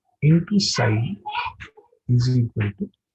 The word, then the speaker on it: psi: This is psi. P is silent here.